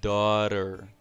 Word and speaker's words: daughter: Então aqui o GH não tem som, então fica daughter.